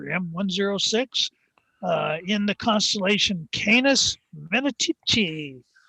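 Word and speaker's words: Canes Venatici: uh in the constellation canis vanity or sometimes pronounced canis vanatisi uh which is I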